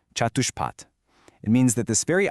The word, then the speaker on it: catuṣpāt: They use the word catuṣpāt, pronounced catuṣpāt.